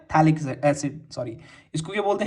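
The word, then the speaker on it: phthalic: इसको हम क्या बोलते हैं, थैलिक एसिड, सॉरी, इसको क्या बोलते हैं, पैथेलिक नहीं, इसको प्रोनाउंस करते हैं थैलिक एसिड।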